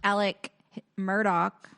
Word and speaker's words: Alex Murdaugh: Well, then they like charged Alec Murdoch. I guess his name's Alex Murdaugh, but he pronounces it Alec Murdoch.